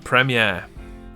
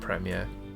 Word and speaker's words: premiere: 11 down, premiere. I do like a good premiere. And I do hate when people pronounce premiere as premier.